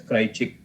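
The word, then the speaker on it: Kraljic: chick model it's called pronounced as cry chick where there's a product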